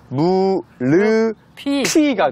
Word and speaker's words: 무릎이: 어떻게 읽을까요 어떻게 될까요 무릎이 아프다 릎 하나를 들으면 들으면 열 개 오 대단합니다 무릎에요 피읍 받침이 역시 뒤에 모음이 오잖아요 그러면네이 모음이 역시 뒤로 쪼로롱 넘어가서 무르 피가 됩니다 아프다 발음의 유의해 한번 같이